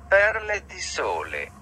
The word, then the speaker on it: Perle di Sole: Perle di sole.